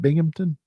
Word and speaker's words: Binghamton: Is it Binghamton?